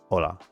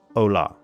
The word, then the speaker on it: hola: helped me in Spanish we put the emphasis on the vowels rather than the consonants which is the opposite to English. So if you took the word hola and you pronounce just the vowels rather than having the strong L sound, it should sound more like a ha. So hola, not ola.